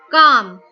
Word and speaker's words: calm: Calm. L is silent.